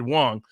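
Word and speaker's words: Wang: Brothers I think taxi pronunciated Wong Wong Brothers spelled w-a-n-g who talked about how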